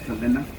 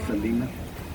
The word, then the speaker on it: Selena: The Selena Bridge, sometimes people pronounce it the Selena, but it's pronounced Selena.